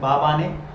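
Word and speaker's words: Mbabane: ही हो जाएगा Swaziland बवाने पढोगे am silent बाने लीला अंगनी स्वाजीलैंड का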